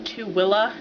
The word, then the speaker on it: Tooele: you didn't put two and two together um tuella most interesting name yet it's spelled t o o e l e but it's pronounced TOA and the guys kept having problems pronouncing it